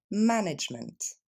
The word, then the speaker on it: management: le prononcer en français il va y avoir seulement trois syllabes en anglais ma nement encore une fois ma n plus rapide management et je vous laisse